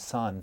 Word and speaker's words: Seon: So there's a real distrust of language in Zen Buddhism, or in Korean, the pronunciation is Sun for Zen. In Sun Buddhism, that's associated with the gongan or the koan.